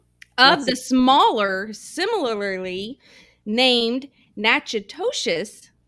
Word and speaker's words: Natchitoches: the smaller similarly named natchitoches louisiana knackers yeah that's how you say it i only know that